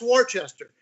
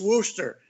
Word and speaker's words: Worcester: that's not a wooster i said they got a wooster in ohio w-o-o-s that's warchester he says no it's not it's wooster like what the hell's wrong with you people in boston can't you pronounce pronunciate anything correctly but that was the worcester